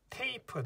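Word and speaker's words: tape: 하지만 뒤에 이가 붙으면 얘는 소리가 안 나서 트에이프 테이프가 돼요.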